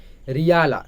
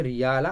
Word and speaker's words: Rihla: और ये Ibn Battuta का एक बुक है, उसी सेम थोड़ा गोलमाल हो सकती है, तो इसका स्पेलिंग आप ध्यान रखिए, RIHLAH, रियाला ऐसे करके बोल सकते हो कि रियाला, और उसका था अल बिरूनी का था रिशाला, राइट।